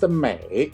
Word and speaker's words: 美: The character we're about to learn today is pronounced Mei, which is a third tone.